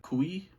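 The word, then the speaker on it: Cui: girl the actress's name I believe it's pronounced Kristen kui even she was great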